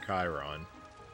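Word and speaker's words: Cheiron: wooden sign is clearly clearly must be pronounced Chiron I love this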